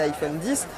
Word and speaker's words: iPhone X: tout ça autre nouveauté de cet iphone icsa prononcent et iphone 10 c'est ce double capteur photo un double capteur